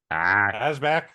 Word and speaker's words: Asbæk: So it's an A. It's just It's just AH. Asbæk.